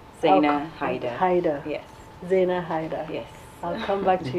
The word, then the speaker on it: Zaina Hydar: and stylist Xena hey da da how it's pronounced Xena hide hider yes Xena hider yes I'll come back to you in a